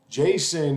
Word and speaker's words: JSON: another and that is what's called Json Json Jason is spelled usually like this and it's it is